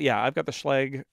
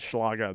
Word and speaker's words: Schlage: I've got the Schlage lock. And that's how they pronounce it, even though as a German student, I really want to call it Schlage, but it's not a Schlage because it's Americans.